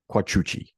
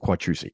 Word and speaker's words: Quattrucci: Cine-Maniacs, my brother, Ralph Quattrucci. That's how he pronounces it. That's not how I pronounce it. I pronounce it Quattrucci.